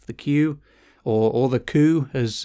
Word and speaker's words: Qu: people's interpretation of the queue or or the coup as it's actually pronounced you know I I I called it the Q to be to to begin with and I